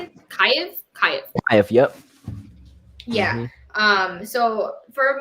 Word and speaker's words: Kyiv: Kyiv.